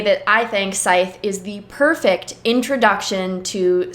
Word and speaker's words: Scythe: I'm very excited to get into this and prove beyond a shadow of a doubt that Scythe, which is in fact the correct pronunciation of the game.